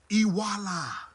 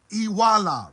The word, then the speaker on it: Iwuala: In Igbo terminology, what we mean by that is Iwuala. Iwuala. Write that word down. Iwuala. It's spelled Iwala.